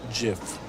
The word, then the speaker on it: GIF: gift out of it gif GIF whatever it's called pronounced Jiff okay you guys are